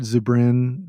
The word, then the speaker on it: Zubrin: Robert Zubrin, if I can pronounce that right.